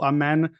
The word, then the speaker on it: Amen: Apparently, we're enunciating the second half of the second syllable. Amen first to the Rockets, and then Asar number 5 to Detroit.